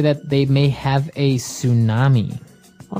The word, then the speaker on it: tsunami: they may have a tsunami well this doesn't sound very English does it I know tsunami and actually if you see the spelling it's with a t t s right I think it's a